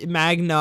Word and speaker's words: Magna: The moment between Magma and Yumiko or whatever, Magna, I keep saying her name wrong, I think, actually was the first moment between them that I actually really liked this season.